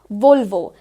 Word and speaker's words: Volvo: So here but we need to remember Volvo. That's going to be the correct way to pronounce this particular brand.